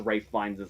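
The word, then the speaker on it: Ralph Fiennes: I haven't spent a lifetime of watching and learning from movies to mispronounce Rafe Fiennes' name.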